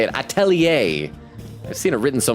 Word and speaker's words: atelier: Atelier. I've seen it written so many times. Atelier.